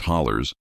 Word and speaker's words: hollows: The Appalachians here are ancient, worn down by time into a maze of narrow valleys called hollows, pronounced hollers by those who live within them.